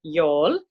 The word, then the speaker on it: Youghal: the coastal town of y'all is a tricky name to pronounce with its silent G it's kind of like the y'all in Texan is the easiest way to say it and even for us